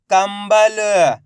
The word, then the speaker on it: कंबल: मिलके बन जाएगा जंतर कम बल तो मिलके बन जाएगा कंबल कम प न कंपन सम भ व तो मिलके बन जाएगा संभव इन तीनों शब्दों के अंदर आधा मा का उच्चारण हुआ किसका आधा मा का